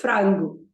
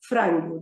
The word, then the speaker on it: frango: So you say o frango. O frango. There are two syllables to this. Frango. So the stress emphasis is on the frango.